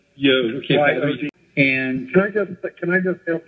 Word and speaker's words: Yod: He pronounced his name Yod. Yod, okay. Y-O-D.